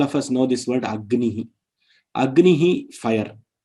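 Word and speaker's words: अग्निः: Now Gakara and Nakara have come together, and because of the Shiksha Shastra and the Vedic pronunciation, the Gakara, one more Gakara comes. One more Gakara is seen in all the pronunciation which are Agnihi. That one more extra thing is seen. Now that letter, with extra letter which is seen before the 5th letter, is called Yamavarna.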